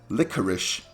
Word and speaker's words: licorice: Or the fact that licorice is spelled licorice but pronounced licorice. That might just be a US thing, but if you want me to say licorice, why don't you write SH in the end? If it ends in CE, then it should be licorice.